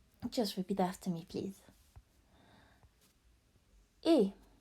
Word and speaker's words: et: Et. Et as a silent T, and it's pronounced, and it means and.